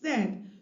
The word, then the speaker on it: said: remember or is reminded that this word is pronounced said so to break down the word into its